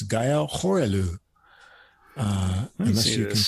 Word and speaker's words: Horellou: I think it's Gaël Horellou. Unless you can correct me. Yeah, here. Yeah, Gaël probably. Yeah. Horellou, I guess. Horellou, yes.